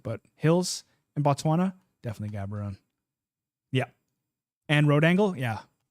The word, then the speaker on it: Gabon: like in the 50-50s cabor cabon cabon cab habon okay that's the pronunciation I like that sweet thanks Peter Gabon instead of just saying Gabon like I'm sure